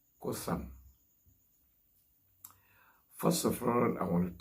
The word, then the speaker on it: قثم: Islam, and that name in the Arabic is pronounced Cothum.